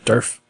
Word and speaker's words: Durf: Yeah, Durf. Yeah. It's like Nerf. You're not going to forget it. Yeah. I mean, we grew up loving Nerf. Right. Rhymes with Nerf.